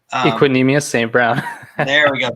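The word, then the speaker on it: Equanimeous: other guy was uh oh how do you pronounce his first name equinemeous saint brown there we go thank you yeah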